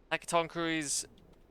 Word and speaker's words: Hecatonchires: I'm gonna be having to pull out how to pronounce page for everything here. Hecatonchires.